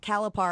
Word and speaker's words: Calipari: Calipari. It's like calamari.